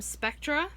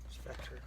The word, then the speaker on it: Spectre: This one is from Spectra. Spectre. Oh, Spectre, sorry. I've seen the movie, just don't know how to pronounce it.